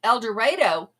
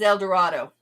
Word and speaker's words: El Dorado: El Dredo. It might be that way in Kansas. Same spelling, same meaning in New Mexico and Oklahoma is El Dorado.